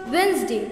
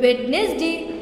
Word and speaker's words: Wednesday: Now everyone, don't let that sneaky D fool you. It's pronounced Wednesday, not Wednesday. Just ignore that D like you ignore text